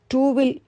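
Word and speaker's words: two: த்வீயில் உள்ள இட் என்பதே டூவில் இட் ஆகிவிட்டது. உச்சரிப்பில் டூ என்று சொன்னாலும் ஸ்பெல்லிங்கில் டீக்கு அப்புறம் டபிள்யூ வருகிறது. டபிள்யூவுக்கு வ சப்தமே உண்டு. த்வீ இல் உள்ள வ தான் இங்கே டபிள்யூ ஆகிவிட்டது.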